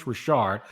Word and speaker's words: Rashard: say his name correctly I called him Chris Richard it's Chris Rashard because I heard see